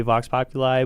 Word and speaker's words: Vox Populi: I just say vox populi but I've heard it said many different ways but uh yeah that's where it came from and I I stuck with it.